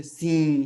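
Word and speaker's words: sim: जैसे यहाँ पे ई, तो ये क्या हो जाएगा? आई एम है, तो इसको हम इम नहीं पढ़ेंगे, हम क्या पढ़ेंगे? ई। जैसे सी, है ना, और सी बहुत महत्वपूर्ण शब्द है, इससे आप क्या बोलते हैं? सी, यस।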